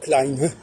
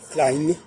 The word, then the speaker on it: klein: Mais en revanche, l'autre erreur de l'allemand, c'est quand ils disent klein, ils le prononcent comme le féminin, alors qu'ils devraient dire klein, klein. Ils devraient prononcer avec un diphtongue comme en français, quand on passe de grande à grand.